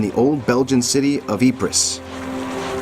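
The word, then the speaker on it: Ypres: old Belgian city of epris a word unpronouncable to most of the British privates who made it generally known as wipers the name became another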